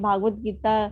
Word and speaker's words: भगवत गीता: मैं भागवत गीता के लिए माता जी एक भागवत नहीं शांत है, भगवत गीता है, तो ये भगवत गीता करके प्रोनाउंस कीजिएगा।